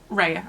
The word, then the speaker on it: Rhea: And chained to the wall is Lila and Soren's mum, Rhea, I think that's how you pronounce the name, it's R-H-E-A.